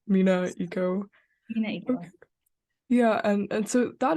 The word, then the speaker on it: MENAECO: Am I pronouncing it like MENAECO? MENAECO.